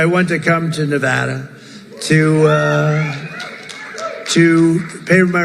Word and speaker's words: Nevada: want to come to a state known as Nevada has anyone ever heard of it and don't ever mispronounce the name you're not allowed to do